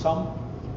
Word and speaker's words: XUMM: There's also companies like XRPL Labs that make the Sum wallet, XUMM, pronounced Sum, and as in the sum of all things.